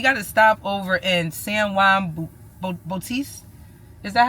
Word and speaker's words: San Juan Bautista: Actually, we got to stop over in San Juan Bautist. Is that how how you say it? San Juan Bautista.